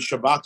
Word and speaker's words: Shabbat: kept the Jewish people the word Shabbos and Shabbat are interchangeable in case you weren't sure it's obviously a Hebrew pronunciation of how you would dialect of human